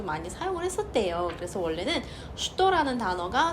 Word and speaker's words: что: 러시아 책에서 왜 취도가 아니라 슈도인가요? 이걸 찾아봤더니 무려 14세기 위로 올라가더라고요. 왜 이 발음이 이렇게 되었는지에 대해서는 14세기로 올라가야 돼요.